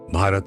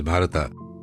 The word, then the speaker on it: Bharata: will discuss about bharata Bharat actually his name is Bharat but in English we pronounce as bharata he was a great